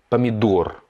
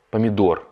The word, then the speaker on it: помидор: On insiste sur le O, помидор, помидор, parce qu'il est en rouge.